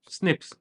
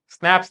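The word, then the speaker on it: SNPs: लेकिन इसको प्रोनाउंस कैसे करते हैं? स्निप्स। स्नैप्स नहीं स्निप्स।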